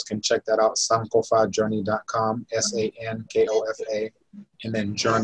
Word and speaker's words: Sankofa: So the ko is an o, so it's written with an open o, so it's an o sound instead of ko.